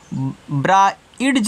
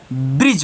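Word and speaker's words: bridge: रहेगा तो इसको आप ब्रा डज नहीं पढ़ोगे क्या पढ़ोगे इसको आप ब्रिज पढ़ोगे क्या पढ़ोगे ब्रिज इसको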